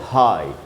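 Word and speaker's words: high: में जब जी एच होता है और जब साइलेंट होता है तो उसके लिए है एग्जांपल से हाई अब देखिए जी एच एंड में है और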